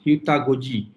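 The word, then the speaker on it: heutagogy: It's pronounced Hutagoji, and the most important is pedagogy is a part of education that student-centered learning, and it must be involved directly.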